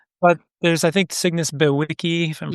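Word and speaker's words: bewickii: But there's, I think, Cygnus Bewicki, if I'm pronouncing it correct.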